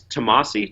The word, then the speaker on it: Tomasi: So it's Tomasi.